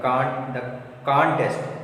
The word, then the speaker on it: contest: If you give stress on second syllable here, that is verb.